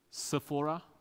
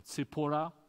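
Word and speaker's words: Zipporah: genealogy moses his wife sephora or sepura depending how you you pronounce her name yeah at one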